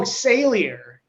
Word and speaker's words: Sailor: it just sailor like sailor it's it's sailor sale it's like the word sale or oh salier yeah yeah yeah they pronounce it sailor but yeah yeah they're